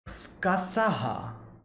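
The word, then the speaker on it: Scáthach: What's the actual pronunciation? Skasaha.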